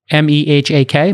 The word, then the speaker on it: Mehak: M-E-H-A-K, Mehak, I'm pronouncing it correctly.